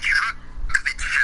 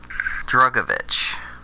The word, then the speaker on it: Drugovich: I'm going to pick Felipe Drugovich as the dark horse. Yep, you pronounced it correctly. Good job. Good boy, Cody. I taught you well. Drugovich.